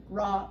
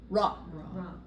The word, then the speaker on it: Ra: her ra her father Ray however they want to say it now it's changing from when I learned all these names they're they're they're changing the pr pronunciation so they call him Rey a lot now so